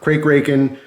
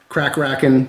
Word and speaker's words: Kraken: This is the Squid Industries Kraken, or Crake-Raken, Crack-Racken. I've heard all different pronunciation. I like Kraken. That's the easier one to just go back and forth. You will see a separate video on this.